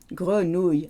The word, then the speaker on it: grenouille: It's not a oui, it's a y. Grenouille.